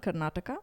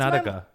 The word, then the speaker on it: Karnataka: Like where I'm from, I'm from a state called Karnataka, and we've got Karnataka. It's like Canada, but like extended. That's Karnataka.